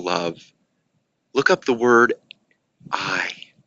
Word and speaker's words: ai: things and you didn't do those things yourself I know there was a time when I was